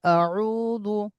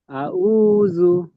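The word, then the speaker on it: أعوذ: আইন আইন জ আউজু আউ আউজু আইনটা আরো চেপে বলেন আউজু আউজু আউজু এই আইনটা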